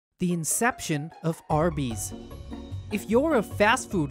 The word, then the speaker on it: Arby's: all across america for their roast beef sandwiches arby's pronounced as r bees does not actually stand for roast beef ironically